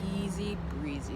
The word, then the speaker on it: ESZBRZE: it so easy breezy for those who were wondering how it is pronounced easy breezy it's very easy breathe